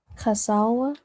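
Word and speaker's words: כסלו: Casawa. Casawa, right? This uses a ka in Hebrew. So casawa, right, is how you say the ninth month.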